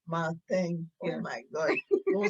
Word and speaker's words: Marteng: So, comment on prononce? Marteng. Marteng.